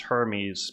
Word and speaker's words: Hermes: Actually, maybe his name is pronounced Hermes because maybe it's not pronounced the same as the luxury brand.